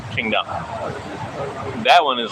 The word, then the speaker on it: Tsingtao: You know, it's spelled like Tsingtao from China, Qingdao.